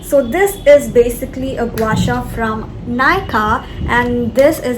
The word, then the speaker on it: gua sha: This thing is called gua sha. Some people pronounce it as guasa and some people pronounce it as guisha.